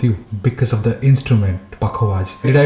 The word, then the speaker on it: Pakhawaj: Because of the instrument, Pakhawaj. Did I pronounce it correct? It's Pakhawaj.